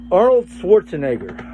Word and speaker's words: Arnold Schwarzenegger: How do you pronounce his name? Arnold Schwarzenegger.